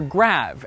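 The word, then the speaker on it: grave: the answer is great or rather grab as it would have been pronounced in the original French you see the graph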